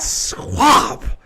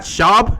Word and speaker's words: Schaub: So I would always be like, Matt Schwab. Like, I knew his name was Matt Schaub, and I knew that's how you pronounced it.